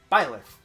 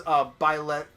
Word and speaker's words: Byleth: But yeah, so with Byleth, funny thing is each gender has a different like syllable ender in Japan. Like one is Byleth, one is Byleth-su, and one is Byleth-to. Okay, that makes sense. And in English, it's just Byleth.